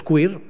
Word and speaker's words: queer: se llaman los movimientos queer queer es una palabra muy interesante que voy a subrayar q r se pronuncia queer me parece una palabra